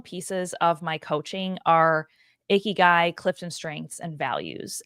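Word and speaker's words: ikigai: word it's not pronounced iy guy it sounds like you're saying a gross guy and I was like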